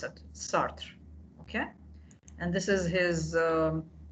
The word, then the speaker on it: Sartre: So today we'll talk about Jean-Paul Sartre, or in French we say it's Sartre. In French, this is the way we pronounce it, Sartre.